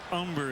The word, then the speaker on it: Humber: mariana rivera the pitcher umber is on death don't pronounce that humber he's ready but